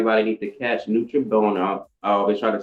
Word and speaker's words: Noche Buena: Then you gotta tell everybody why they need to catch Nutribona. I always try to say it right. Noche buena, close.